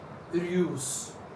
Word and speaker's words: heureuse: And when you convert it into its feminine counterpart, it's very easy to pronounce. Heureuse, heureuse, Heureusse.